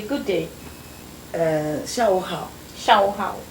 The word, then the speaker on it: 下午好: 下午好，下午好.